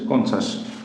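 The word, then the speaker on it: conscious: CON, কন, CIOUS, কনসাস। তাহলে এর উচ্চারণ হলো কি, এখানে এই যে IOUS থাকার কারণে এটা হলো শয়ের মতো উচ্চারণ হলো, এই সি এর উচ্চারণ হলো শয়ের মতো, কনসাস। প্রিসিয়াস, PRECIOUS, কি হলো প্রিসাস,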